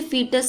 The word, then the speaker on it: fetus: इसे फीटस आप प्रोनाउंसिएट करोगे।